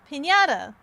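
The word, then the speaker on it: piñata: Pinñata.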